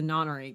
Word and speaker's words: nonary: Try applying the same ideas to the nonary game, which is how I'm going to pronounce that. Yep. 'Cause it should be the right way to say it.